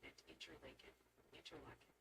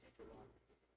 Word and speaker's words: Interlaken: watching New York action gently suggest it's pronounced Oneida, Oneida, and Interlaken. Yeah. I'll tell you all. Just stop. I said interlock.